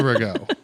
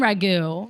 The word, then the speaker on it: Rago: Osteria Rago. Yeah. I literally I think do- I was saying ragu, maybe.